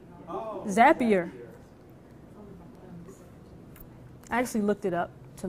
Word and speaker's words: Zapier: here is familiar with zapier okay zapier and so if there's not an explicit add-on for something that you want to do things a PR connects with like zapier like happier zapier actually looked it up